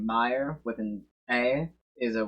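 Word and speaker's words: Mayer: where's translate Oscar Meer Oscar Meer yeah still pronounced Meer Oscar Meyer Oscar Meer Oscar Meer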